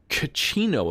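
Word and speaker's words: Cachino: about it talk to kachino about suspicious omerta uh activities all right uh oh sayus okay oh the c the c is pronounced uh with like an s sound gotcha gotcha uh how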